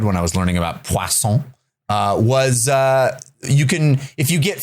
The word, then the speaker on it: Poisson: Poisson. I think I'm pronouncing it correctly.